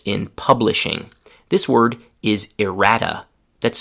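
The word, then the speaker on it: errata: This word is irrata. That's spelled e r r a t aa is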